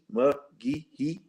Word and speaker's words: McGehee: I mean, I'm just saying McGehee McGee. Okay, McGee. I want to say it right.